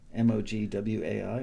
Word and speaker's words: Mogwai: Is that, you pronounce it Mogwai, right? Mogwai? M-O-G-W-A-I, Mogwai. Ratio by Floating Points, love that.